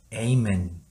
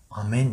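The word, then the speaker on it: amen: 여러가지가 있겠지만 한테 아 미국 쪽에서 4 이것을 다음 에이멘 이라고 해요 영국에서는 아멘 이라고 합니다 다 섞여 있죠 다시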